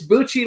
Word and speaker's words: Bucci: It's Bucci like Gucci, right?